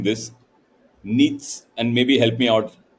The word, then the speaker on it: Nietzsche: Friedrich, I'll be mispronouncing this. Nietzsche, and maybe help me out. Friedrich Nietzsche.